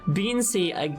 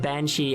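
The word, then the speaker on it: bean sídhe: Oh, so you're saying that Beansea is the Gaelic written in the Latin alphabet, but not at all how it's pronounced. It's pronounced Banshee, and the writing we use nowadays is just...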